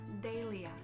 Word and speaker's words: Dahlia: 第四个，豁达大度的 Dahlia 大丽菊 Dahlia，也可以念成 Dahlia。